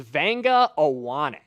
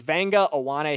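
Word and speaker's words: Vega Ioane: Give me the pronunciation of this name because I always struggle with it. Okay, so this is Vanga Awanak.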